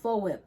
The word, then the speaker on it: Foap: dollars, okay, you guys, is called FOWIP, okay? So it's kind of spelled like soap but with an F, okay?